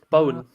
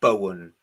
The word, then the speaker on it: Bowen: No foul there on Bowen. Bowen. His name is fucking Bowen. I said it. Like T-Rex lead singer Mark Bowen. The author Rachel Bowen.